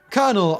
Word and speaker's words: colonel: fascinating story let's talk about why Colonel is pronounced colel shall we kernel ultimately derives from the Latin columna meaning pillar